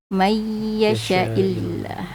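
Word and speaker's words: يَشَإِ اللَّهُ: E di surah 6 ayat 39 yang ada bacaannya di mayasyaillah. Ya, itu bacaan musykilatnya. Hati-hati. Hati-hati. Sya dibaca pendek.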